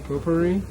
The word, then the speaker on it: potpourri: and no smoking pop popular how do you pronounce that potpourri potpourri yeah right i like to smoke potpourri like